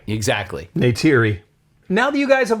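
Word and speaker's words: Neytiri: Na'vi woman named Natira and eventually leads the Na'vi in the war to protect their home from the human colonist Natiri.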